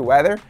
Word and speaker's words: whether: Lembrando que weather se escreve dessa forma, mas se pronuncia da mesma forma, como a palavra weather, que significa clima em português.